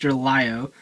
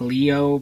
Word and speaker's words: LiOh: rabbit to form gobus Lio and then or it's it's technically like Leo but the way the Japanese pronounce it ends up being Lio but um that and